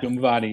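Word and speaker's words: Dhumavati: is, maybe you can help me with the pronunciation here. Dumvati. Yeah. Dumvati.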